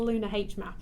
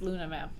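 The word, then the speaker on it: LunaH-Map: looks like it's a lunar h map but before the recording you said it was you just luna map the h is silent again the h is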